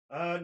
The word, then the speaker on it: Harbour: Harbour.